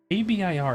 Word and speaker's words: Abir: As Abir, A-B-I-R, how do you pronounce that? I think it's a beer.